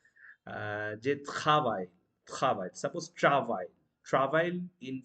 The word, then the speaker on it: travail: Je travaille. Travaille. Suppose travail. Travail in French means work. Okay, work, I should say. Travail. uh, but that would be travail. Okay, or r should be ha.